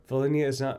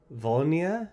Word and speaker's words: Volhynia: Volhynia is pronounced without an H. Volhynia?